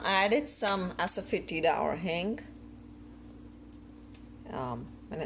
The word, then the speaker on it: hing: heated up uh I added some asapi or Hing um when I spell it in English it's h i n Hing